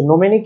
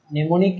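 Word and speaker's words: mnemonic: আচ্ছা, নেমোনিক ইউজ করার কারণে আমি উচ্চারণটা ভুল করছি, এটার বানানটা হচ্ছে এরকম এম এন ই, এইটা নেমোনিক। নোমেনিকটা কিন্তু হ্যাঁ আমি কয়েকবার ভুল উচ্চারণ করছি, নেমোনিক।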